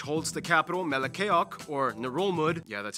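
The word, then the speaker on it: Ngerulmud: dab island which holds the capital melakayok or nerolmud yeah that's how you pronounce it which is the least populated capital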